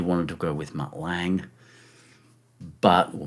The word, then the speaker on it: Lange: to go with Mutt Lange, but, well, Mutt Langer, I think is actually the pronunciation, but I couldn't because he wouldn't get out of his smoking jacket.